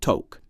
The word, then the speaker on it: toque: In Canada, it's a toque. That's spelled t o qu q u e.